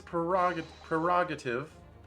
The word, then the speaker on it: prerogative: Call it antiquated if you will, but it's the defense's prerogative. The R, first R is silent.